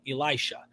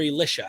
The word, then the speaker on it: Elisha: Not Elijah, but Elisha. Or Elisha, however you like to pronounce his name.